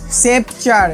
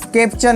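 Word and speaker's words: sceptre: এই উচ্চারণটা দেখে নে, সেপচার, এ কানায় কানায় পরিপূর্ণ, এটা স্কেপচার নয়, সেপচার।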